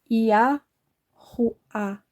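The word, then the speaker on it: יהוה: E a última letra, que é um Re, e está no fim da palavra, ela tem som de A tônico. Yahuá.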